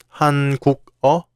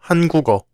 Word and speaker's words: 한국어: How would you pronounce this word? 한국어? No, it's 한국어. That's because the final consonant 기역 from 국 meets the vowel 어.